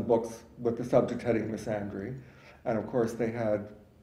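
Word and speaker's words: misandry: also I I some I usually pronounce it missandry because I want to make you know it is the counterpart of misogyny the sex is counterpart of misogyny um I say Miss Andre because I want to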